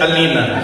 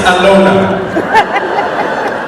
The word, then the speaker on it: Alona: She said, Alina. He went, actually, it's Alona.